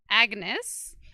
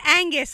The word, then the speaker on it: Agnes: She wrote a new song that's on our new CD called Black Agnes. Not Angus. I always say it wrong.